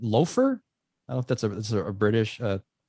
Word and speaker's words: Lather: Speaking of spicy, the other release that I'm pretty excited about is from our friend Johnny from Lather, but I think it's pronounced Loafer.